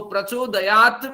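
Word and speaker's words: प्रचोदयात्: तो प्रचोदयात में त का उच्चारण नहीं होगा, या का उच्चारण होगा।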